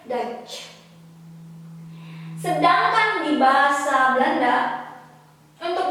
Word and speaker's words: Dutch: Nah, ini kita baca sebagai A dan ini silent letter, nggak disebutin. Jadi kita bilangnya Dutch.